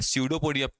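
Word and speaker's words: pseudopodia: ओडिया क्या बोलते हैं यहां पर पी साइलेंट है ध्यान देना इसका नाम है सूडो पोडिया सूडो मत बोलने लगेगा आप लोग ठीक है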